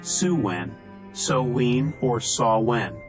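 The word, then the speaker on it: Samhain: thousands of years to the Festival of saan pronounced suen so or sawn the Celtic New Year's Festival the name means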